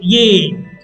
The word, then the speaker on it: est: Spelling est, pronunciation ye.